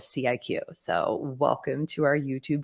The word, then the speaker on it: CIQ: And how do you pronounce our name? I was actually listening to another podcast this morning and the guy was like, I'm not sure how to pronounce this. Is it sick? I'm not sure. CIQ? So yes, for all the world to know, we do refer to ourselves as CIQ.